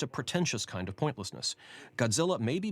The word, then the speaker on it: Gojira: tongue comes out with godzilla the emphasis on gojira as a title is merely an attempt to incline people back to the japanese pronunciation and the irony is there are all